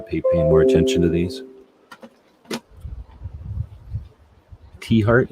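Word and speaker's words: Tiahrt: T-Heart is how it's pronounced.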